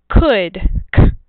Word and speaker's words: could: o's they're spelled differently here's the word could C uh uh we hear that same sound but it's spelled with an o u so could is